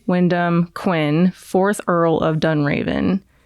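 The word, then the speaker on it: Wyndham: His name is Windam. Yeah, it's spelled W I N D H A M and then W Y N D H A N. So, Windham Wend okay whatever.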